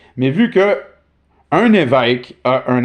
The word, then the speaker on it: évêque: But now we pronounce it l'évêque because a bishop is pronounced évêque.